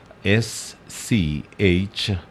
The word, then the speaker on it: schizophrenia: And this is how it's spelled: SCHIZOPHRENIA. And how do you pronounce that? That's schizophrenia. Okay, that's the right pronunciation for it.